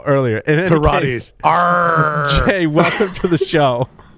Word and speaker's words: Peirates: Is that like Pilates, but Peirates attack tool for Kubernetes, and the Bastille CTF cluster.